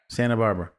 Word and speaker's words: Santa Barbara: You're not supposed to pronounce the T in Santa Barbara. Santa Barbara.